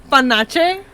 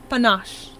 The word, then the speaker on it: panache: No, because I read the entire Sunrise on the Reaping calling this character panache. Apparently it's pronounced panache.